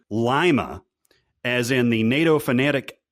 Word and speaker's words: Lima: be heard saying uh l-i-m-a uh however he pronounces it the wrong way saying lima rather than lima which is the correct pronunciation okay let's go to